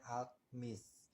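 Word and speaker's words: altmış: 60 itu Mes Mes a l t m i s tulisannya alt Miss miss-nya itu dibacanya m alt-nya Alt alt lidahnya dimainin alt Miss ya untuk 60 kalau aku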